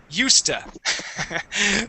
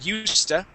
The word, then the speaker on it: used to: B but we say USTA that's uh that's actually how we pronounce the word okay so we we pronounce the word USTA okay but our answer